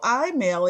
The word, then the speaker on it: EyeMail: of where you've gotten to today absolutely so I mail and it's spelled e-y-e-m-a-i-l so I now is a patent-pending